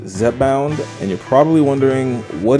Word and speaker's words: Zepbound: Now, this medication, it's pronounced Zepbound, and you're probably wondering, what is it?